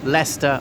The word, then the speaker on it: Leicester: of the East Midlands so Lester I know confusingly spelled like Lester so the ancient Romans